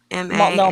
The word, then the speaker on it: Multnomah: So how do you spell It the other starts one? with an M, Multnomah. Multnomah.